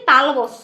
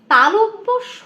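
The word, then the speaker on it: তালব্য শ: এটাকে কি বলে আমরা কি বলি তালবস বলি কিন্তু না এটা তালবস বলবো না এটাকে আমরা কি বলবো তালব্য স বলবো মানে উচ্চারণটা একদম পারফেক্ট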